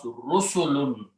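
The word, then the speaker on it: رُسُلٌ: So you put a dhamma here, and two dhammas, and pronounce Rusulun.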